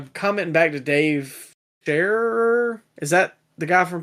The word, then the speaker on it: Scherer: of people were like commenting back to Dave Scherer. Is that the guy from PW Insider? I don't know how to pronounce his last name.